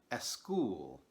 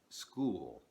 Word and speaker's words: school: snack Sports and stop native speakers of Spanish often pronounce these words with an e sound at the beginning for example they will say a school instead of school or a stop instead of stop this is because in